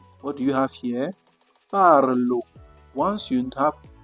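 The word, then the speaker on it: parlent: But the correct pronunciation in French should be what? Parl. You drop all these ending. It will be parl. That is they speak. See that letters disappear suddenly.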